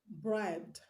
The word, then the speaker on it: bribed: The root word is bribe. So the last sound that you see in bribe is b, b, b. The last sound that you hear when you pronounce bribe is b, b. So you're not considering the e in front of b. Is the sound that we are considering. So the last sound b is a voiced consonant.